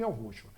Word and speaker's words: Yahushua: E é por isso que eu pronuncio o nome Yahushua.